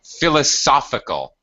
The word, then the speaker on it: philosophical: uh yeah uh I'm philosophical by the way philosophical philosophical yeah it has the the uh the stress the primary stress is in this middle uh syllable philosophical philosophical that's it